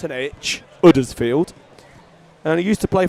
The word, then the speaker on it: Huddersfield: he's from um town it's um town is uddersfield that's pronounced with a u not an Huddersfield and he used to play for the Huddersfield